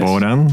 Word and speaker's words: Bohdan: bit more about you try to pronounce my name correctly like bodan right thank you my name